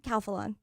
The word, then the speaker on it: Calphalon: Calphalon.